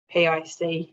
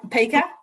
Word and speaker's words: PICA: this happen is that when the pic yeah pica yeah perfect it gets pronounced differently sometimes really good question yes